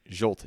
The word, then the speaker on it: Zsolt: Yeah, Zsolt.